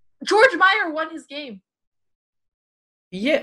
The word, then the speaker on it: Georg: It's not George, it's Georg? Georg.